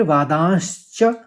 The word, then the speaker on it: वादांश्च: फिर वादांश्च, क्योंकि वादांश्च पहले श निकालना फिर च में खत्म होगा।